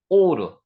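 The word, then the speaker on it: אור: 됐습니다 하야 있다 있다 오르 여기 아 발음 난다 그랬고요 바보 위에 점이 있는 거 오 발음이 된다 그랬습니다 그래서 여기 아오가 합쳐 가지고 오르 요게 빛입니다 빛 빛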